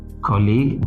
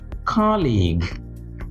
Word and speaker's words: colleague: Here we have not colleague, but colleague. Colleague.